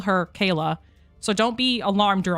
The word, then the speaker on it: Kala: irregular around these parts, she has said that I can call her Kala, but everybody else I know calls her Kayla.